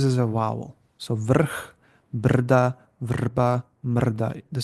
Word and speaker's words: brda: The stress is on still on r.